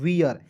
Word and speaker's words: wear: आगे देखिएगा बिल्कुल ध्यान से, WEAR, तो देखिए W का वो EAR है तो इसका उच्चारण ईयर के रूप में करेंगे, तो क्या हो जाएगा दोस्तों, वियर।